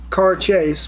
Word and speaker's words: Cairdeas: which is gorgeous in Gaelic charges and it's pronounced car-chase but with like a Jay conscious conscious 2019